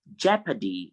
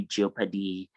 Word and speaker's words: jeopardy: we have it in jeopardy is not jio paddy please don't say jeopardy it's jeopardy and then we have